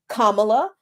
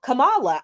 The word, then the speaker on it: Kamala: go either way it's I've heard people with the name pronounce their name Kamala um but also Kam Kamala I I it's not